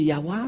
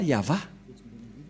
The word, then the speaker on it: Yahvah: prendre en photo car certains aussi disent que que c'est yawa mais pas yava et c'est encore une une fausse un faux schéma car la prononciation de